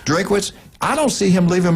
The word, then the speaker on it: Drinkwitz: Missouri, Drinkowitz. I say it right? Drinkwitz.